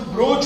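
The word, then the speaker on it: brooch: वैसे तो ब्रोच बोलते हैं उसको, लेकिन ये स्पेलिंग में डबल ओ लिखा है तो इसलिए ब्रूच बोलना पड़ता है।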